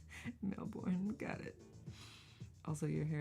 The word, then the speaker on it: Melbourne: Australians don't pronounce half the syllables. Melbourne.